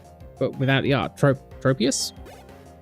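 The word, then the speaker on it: Tropius: it's like Prius but without the art tro tropus not trop plusus people pronounce it tropas really and it's most definitely trops okay that's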